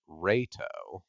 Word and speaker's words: Reito: Zero in Japanese is Ray, and the way that Leto's name is somewhat pronounced is Reito.